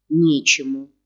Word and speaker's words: Нечему: Нечему. Вот у нас ударение.